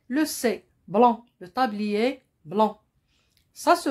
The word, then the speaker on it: blanc: ariel rien on continue le mont blanc il se termine par la lettre c il y à une lettre me est à la fin c'est le sait dont le tablier blanc ça se prononce pas